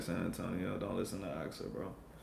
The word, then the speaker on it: San Antonio: The right way is how everyone in San Antonio says it, like San Antonio.